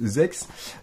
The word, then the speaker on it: Z/X: Alors ZX qu'on prononce Zex, c'est un jeu de cartes qui se joue uniquement en Asie, au Japon essentiellement.